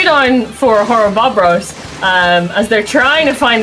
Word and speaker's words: Horrobobros: But that is going to be 3 down for Horrobobros. Indeed. Every time I say it or you say it, it feels like we're saying it wrong, but it's correct. Horrobobros.